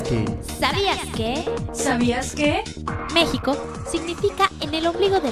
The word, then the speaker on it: México: México significa en el ombligo de la luna del náhuatl. Los aztecas lo pronunciaban México. Los españoles lo escribían México, ya que no existía la pronunciación de la J.